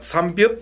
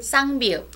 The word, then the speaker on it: 쌍비읍: 삼비읍? 쌍비읍.